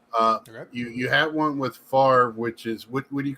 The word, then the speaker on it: Favre: It's you got to exhale, let it out.